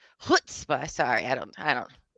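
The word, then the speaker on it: chutzpah: It's hutzah. Hutzba.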